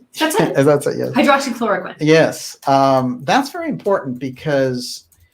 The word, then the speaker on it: hydroxychloroquine: By the way, there have been a number of very successful remedies, like hydrochloroquine that came up, right? How do you pronounce that? That's it. That's it, yes. Hydroxychloroquine.